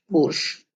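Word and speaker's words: борщ: ये आपका हो गया बो, र, बोर्श, बोर्श, बोर्श। अब देखिए जो श है यहाँ पे पूरा प्रोनाउंस नहीं हुआ है, श का श की जगह बोर्श, और आधा प्रोनाउंस है बोरश की जगह बोर्श।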